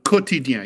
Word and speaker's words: Quotidien: Quotidien. You do not pronounce the U. It's as if it's just quotidien.